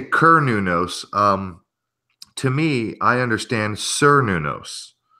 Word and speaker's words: Cernunnos: Just going the Roman way. They didn't have the S sound for the C, so.